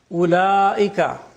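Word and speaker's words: أولئك: Ulaika, the waw is not pronounced.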